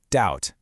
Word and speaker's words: doubt: Okay, on to our next suspect, the silent B. You've got it in words like doubt and subtle, but pay really close attention to words like thumb and climb. The B's sound is usually pretty strong,